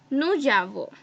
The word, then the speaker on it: nous avons: French we have a rule that when we pronounce, so we don't have to break them, we have to say them together, right? Like this. There will be no break. So how will I pronounce it? I will pronounce it as nous avons.